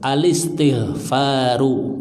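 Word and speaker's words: الاستغفار: Ya, jadinya alis, bukan al-is tapi alis gitu. Alistighfaru gitu.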